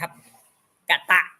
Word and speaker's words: กต: เต่า นี่ คือ อ่อ อักษร ใด ที่ มี ตัว เดียว นะ ครับ ใน ภาษา บาลี ให้ อ่าน เป็น อะ หมด ครับ กตะ อัน ว่า กตะ อื